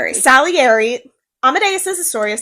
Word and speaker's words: Salieri: Salieri.